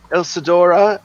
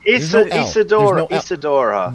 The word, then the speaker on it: Isadora: Pronounce it right. There's no L in it. Ilsadora. No, and the not Immortal ill. Chains. Ilsadora. Isadora.